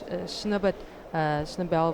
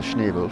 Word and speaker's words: Schnebel: So in lane 4 we have Sandra Schnebel from Namibia. So that's German pronunciation.